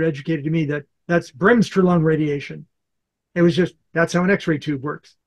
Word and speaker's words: Bremsstrahlung: Manuela, How do you pronounce that? Which one? Bremsstrahlung. Bremsstrahlung. Bremsstrahlung.